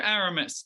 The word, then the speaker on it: Aramis: But I'll start off with you, Aramis. Tell me about the film. Is that how you say your name? Yes, yeah. Yeah, everyone's been pronouncing my name correctly, surprisingly.